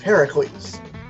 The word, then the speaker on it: Heracles: because his name is technically supposed to be pronounced Heracles. And when the first time they say it, Heracles, Zeus says yes because that's the way it's actually pronounced.